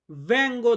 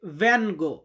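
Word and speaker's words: vengo: যে আমি বাংলাদেশ থেকে এসেছি এটার ইতালিয়ান হবে ভ্যাঙ্গো দাল বাংলাদেশ ভ্যাঙ্গো দাল বাংলাদেশ আমি বাংলাদেশ থেকে এসেছি। তো অনেকে অনেকে এটাকে বলে ভ্যঙ্গো।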